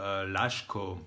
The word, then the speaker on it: Laško: The second letter is š. For an example, Laško, which is a town in Slovenia, also home of the best Slovenian beer, by the way. In English, it would be pronounced as h. An example would be shower or fashion, for an instance.